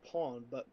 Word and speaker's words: pain: I think it's pronounced pawn, but it's actually spelled pain, Pain.